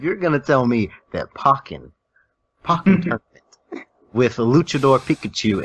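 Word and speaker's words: Pokkén: to pronounce it because I was always called pokin it is pokken pokin you know tomato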